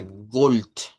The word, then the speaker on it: Gold: Y va a sonar a gold. Gold. Entonces, vean, gold con la D, gold con la T.